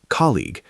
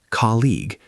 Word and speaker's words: colleague: Colleague, pronounced colleague, not colleague.